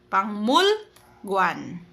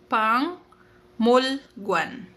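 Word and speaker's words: 박물관: Pero ang kanyang bigkas yan pangmul guan. Okay. Kasi nga yung rule natin kapag kiok sinundan po ng mium magiging ng sound daw po si Kiyok. So magiging pang Molwan.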